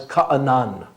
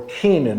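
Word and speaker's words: Canaan: there is this land known as ka'anan or kenan as we mispronounce it in english the land that would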